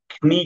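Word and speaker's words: know: আই ক নাই নাই ঠিক আছে তারপরে আবার এখানে খেটে সাইলেন্ট হয়েছে এখানে কিন্তু নো হবে যদিও লেখা আছে নো ঠিক আছে ন ও নো নো নো নো ঠিক আছে তাহলে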